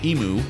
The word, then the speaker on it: EM: Persona 3 Em, pronounced emu for some reason, was a mobile game